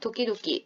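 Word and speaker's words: 時々: 도끼도끼. 여기 두 번째에 토에는 타금이 붙어 있어요, 여러분. 그러니까 도끼도끼 발음에 유의하시고 그다지는 뭐라고 했다?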